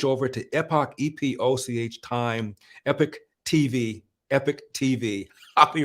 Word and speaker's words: Epoch: Now, I want you to switch over to epoch. I pronounce it epic, and I'm told to pronounce it epoch, E-P-O-C-H TV, because we've been shafted by YouTube, suppressed by YouTube.